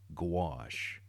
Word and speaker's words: gouache: particular will use that to correct mistakes acrylic gouache that's how you pronounce it all right back to the watercolor